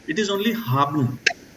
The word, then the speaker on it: haben: is not spoken like haben. It is only haben. Haben. You can say haben. Haben. That is, this E is like only 20% of this E is pronounced.